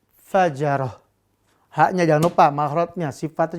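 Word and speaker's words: فجرة: Kita ganti semuanya dengan ha di ujung-ujungnya ya. Maka ini diganti dengan ha. Tun dengan ha. Gobaroh, gobarotun kita ganti dengan ha. Kalau diwakafkan. Qatarotun kita ganti dengan ha. Terakhir al-fajaratu kita ganti dengan ha. Ini pemirsa cara bacanya ya.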